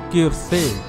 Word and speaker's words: Quirce: So, his name is Quirce. I was pronouncing it wrong the whole time, but it doesn't matter.